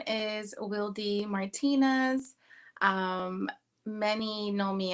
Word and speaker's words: Wildy: my artist name but Wy is my actual name um it some people pronounce it as wildy but I am Dominican American and my name um is pronounced in Spanish so um I was